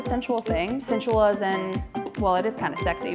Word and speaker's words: Joui: So, oh also if you want to pronounce it correctly in French it's like we uh but we all just call it joy.